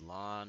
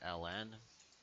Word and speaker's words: ln: that looks like this this is pronounced lon or Ln okay and this well